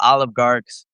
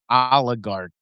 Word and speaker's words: oligarch: It's oligarch. No, it's not it's not it's not olive. It's not olive. It's oligarch. Oligarchs. Oligarch. You keep throwing a V in there.